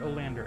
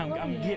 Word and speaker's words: Oleander: I almost said Olander again. You said it right though now. Yeah, Oleander.